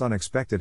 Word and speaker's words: unexpected: Phonetic Alphabet to pronounce unexpected have in mind that the size of the syllable indicates where the accent or stress is in this case the accent is in the third syllable corresponding to spec though are other ways